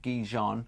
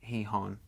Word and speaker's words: Gijón: The captain is saying it Gijon, but apparently locally they say it Gijón.